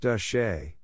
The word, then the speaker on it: de Chelly: A visit to Canyon de Chelly, pronounced De Shay, should be on your must-see list if you want to see beautiful and historical natural wonders in Arizona.